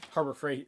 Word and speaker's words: Harbor Freight: you and I, and we went to Harbor Freight. Oh yeah, yeah. Or is it Harbor Freight? Harbor Freight. Why do you keep on saying Frights? God, Jesus Christ. keep the Frights.